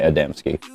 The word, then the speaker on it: Adamski: Adamski is how it's spelled. So, I'm going to say Adamski.